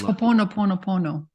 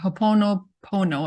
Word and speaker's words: Ho'oponopono: It's Ho'oponopono.